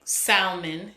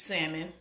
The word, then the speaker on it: salmon: be said wrong like Salman it's salmon I don't know what